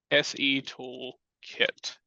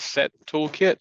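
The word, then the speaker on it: setoolkit: in the word pseudo SE tool kit um pretty easy command the only issue I've ever seen in this is some people pronounce it set toolkit so they add an extra T um and you may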